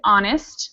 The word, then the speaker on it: honest: from Juanma is good honest we've got another silent h um um we also